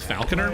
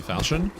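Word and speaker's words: falchion: I I said it wrong. I pronounced it wrong. I call it a falcon instead of a falion.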